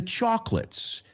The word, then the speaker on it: chocolate: The flowers were old, along with the chocolates. Vamos a pronunciar esa palabra. No es chocolate, sino chalk, como tiza, y luego lit, encendido. Dos sílabas, ¿eh? Olvídate esa O por medio.